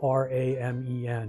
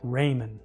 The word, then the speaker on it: ramen: So R A Men, it's a Japanese word, but it's pronounced ramen. And of course the UI was pronouncing it Raymon because it's not an English word.